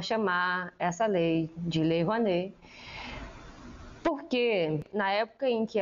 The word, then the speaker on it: Rouanet: A Lei Rouanet se pronuncia Lei Rouanet, mas escreve Lei Rouanet.